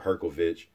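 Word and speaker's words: Hrgović: of the Romanian subscribers told me how to pronounce at her kovitch dice Co yoga Joyce experienced as hell and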